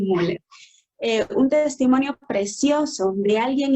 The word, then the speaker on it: Müller: Algunos dicen Müller, ¿verdad? Pero la mayoría pronuncian Muller.